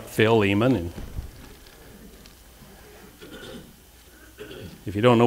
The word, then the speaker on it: Philemon: turn in your Bibles to Philemon some people pronounce it Philemon but it's I like Phil Eamonn and if you don't know where that's at